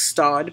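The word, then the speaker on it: Staud: You guys have seen me carry my faux Stod bag. That's how you can pronounce it.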